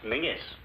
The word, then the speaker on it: Menzies: A small one, please, Menzies. What's the matter? If all these Atlantic packs are to go through, you Yanks will have to learn to speak the King's English. And Menzies is pronounced Mingus.